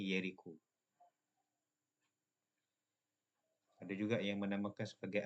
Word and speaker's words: Jericho: Ejaannya J tapi sebutannya Yeriko.